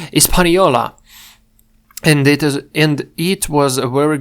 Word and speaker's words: Hispaniola: Its name was Hispaniola, или Испаньола. Тут же вроде оно не читается. Вот это аж-то непроизносимое. Испаньола.